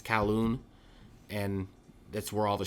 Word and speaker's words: Kowloon: uh waterway is a kowloon i want to pronounce it right i think it's kowloon and that's where all the shops seem to